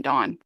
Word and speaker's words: DVWN: to be in Pentagon this is dvwn Dawn and then we got